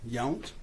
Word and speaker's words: Yount: Please keep your voice up, and if you would, please state your name and spell it. Yes, sir. Yount, Y-O-U-N-T.